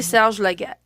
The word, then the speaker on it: Serge Laget: It's published in 2020 and it's created by, is it Sergei Laget or Serge Laget? It depends on how you pronounce it. In French, we used to Hmm. call it Serge. So I'll say Serge Laget.